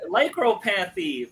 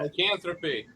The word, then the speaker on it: lycanthropy: Lycropanthy. I can't freaking pronounce that. Lycanthropy.